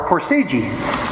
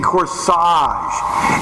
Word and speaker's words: corsage: oh I bought our course EG oh you mean corsage a GE is pronounced as AZ in corsage garage where did you get